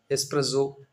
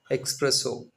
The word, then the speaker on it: espresso: Same way sometimes we used to drop few consonants or add additional sounds to the consonants such like espresso is pronounced as expresso.